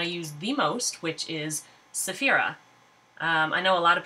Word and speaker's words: Cephera: to say her name I personally say it as Saphira some people say it as sefirah which is how my little text computer will say it back to me not crazy about the saying but you know what it doesn't matter if you want to say sefirah or Saphira the name actually comes